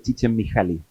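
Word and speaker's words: Csikszentmihalyi: la pega el resto no digamos se dice chichen miali mucho más fácil de Cómo se escribe eh pero ahora ustedes saben escribirlo Así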